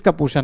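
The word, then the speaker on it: kappa: किसको बोलते हैं तो कापा बोला जाता है प्रोनाउंसड एज कापा प्रोनाउंसड एज इसको हम लोग क्या बोल देते हैं कापा बोल देते हैं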